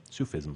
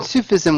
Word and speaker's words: Sufism: and in the description you how do you pronounce it sup sup asou Sufi Sufism yes you feast Sufism right yeah what wouldn't